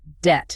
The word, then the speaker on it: debt: Let's give a quick vocabulary word there, debt. Oh, yes. D E B T. The B is silent.